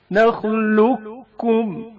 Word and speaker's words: نخلقكم: قاف ساکن کا کاف متحرک میں ادغام. نخلقكم. ادغام کی حالت میں نخلقكم نخلقكم پڑھا جاتا ہے.